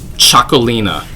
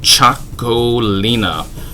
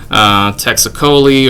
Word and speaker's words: Txakolina: Txakolina. Yeah, say it with me. Txakolina. It is spelled with a TX, but it's pronounced like a CH. So you can impress your friends by them saying Texacoli or something like that,